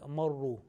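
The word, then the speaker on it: مرّ: Okay, and the fourth word is Marru. Ra with Tashdid plus it has a Dhamma.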